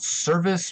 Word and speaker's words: Servaes: and it is called Service Brewing Company. And service is spelled like Servaes.